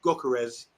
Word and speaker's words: Gyökeres: And with this transfer with Gyökeres, I said it right this time, Swedish Victor, going to Arsenal, this could trigger everything else to fall into place.